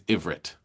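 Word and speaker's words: עברית: Hebrew doesn't have a short I vowel. So you can only say ivrit.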